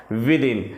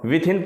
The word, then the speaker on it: within: आज देखेंगे इन और विदन कई लोग विदन को विथ इन पढ़ते हैं जो कि गलत है इसको सही उच्चारण सही प्रोनाउंस यदि देखा जाए तो विदिन होता है तो चलिए बिना देरी